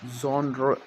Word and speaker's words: genre: ये वर्ड एक French word है जिसको आपको दो तरीके से भी प्रोनाउंस कर सकते हैं। कुछ लोग इसको जॉनर की तरह प्रोनाउंस करते हैं, कुछ लोग इसको जेनरे कहते हैं।